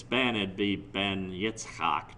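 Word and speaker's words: יצחק: Well, that's from Isaac's son, which is nonsense, because the Hebrew pronunciation of the name Isaac is not Isaac, it's Yitzchak.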